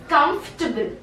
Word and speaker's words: comfortable: Are you saying comfortable? It's wrong. It's comfortable. Again, you will not pronounce the word A. It will be comfortable.